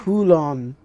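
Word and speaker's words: Kowloon: ンの廃棄エリア Kulon. That's how you pronounce it.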